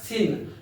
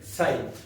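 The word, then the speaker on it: sine: s n how to pronounce sign many student pronounce it as Sin not sin sign what is coine coine is the co ratios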